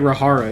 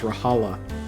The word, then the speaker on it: Rahala: You're still saying it wrong. You keep saying Rahara. It's Rahala. Rahala. Like hala hala.